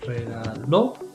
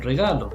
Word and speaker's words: regaló: Anteayer, the day before yesterday, my neighbor, mi vecina, me regaló. Important, stress on the last syllable. Otherwise you're saying regalo, which means something different.